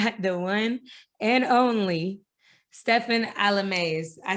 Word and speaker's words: Stephen Alemais: and today i got the one and only stefan alames i said it right right yeah you got